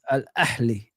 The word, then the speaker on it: Ahly: Yeah, it's Ahly.